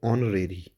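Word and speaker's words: honorary: इसको आप ऑनरेरी नहीं पढ़ेंगे। इसको आप पढ़ेंगे ऑनरेरी। एच इसमें साइलेंट होगा।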